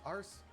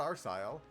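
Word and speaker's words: Arseille: He's been rather popular ever since his famous return to Erebonion on Liberals Arce, apparently is how that word is pronounced. Not Arsile. The Arce.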